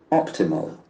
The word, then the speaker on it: optimal: Okay, optimal, optimal. The accent falls from the first syllable.